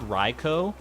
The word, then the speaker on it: Raikou: thought it was Raichu I mean it's Ri r-a-i-k-o-u so unless they're getting real quirky with their pronunciation I think it could only be I could I've heard ryko I've heard raiku which I I go with personally because it makes sense it's like a cougar which I know doesn't always translate to pronunciation but it makes sense in my head at least are we not talking